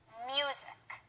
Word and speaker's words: music: because that's incorrect too the correct way to say it is music and the stress is on the first syllable music do you hear